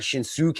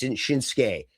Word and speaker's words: Shinsuke: You don't always pronounce the U properly. So Asuka is like Shin, it's not Shinsuke, it's just Shinsuke.